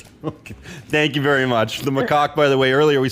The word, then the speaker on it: macaque: yeah it's a macaque yeah okay i wasn't saying it right no i'm a cause